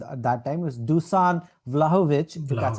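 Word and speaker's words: Dušan Vlahović: It was Dusan Vlahovic. That's how you pronounce.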